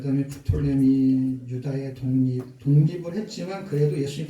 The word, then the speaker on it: 프톨레미: 그 다음에 프톨레마이오스 그런데 그냥 프톨레미라 그러시면 됩니다.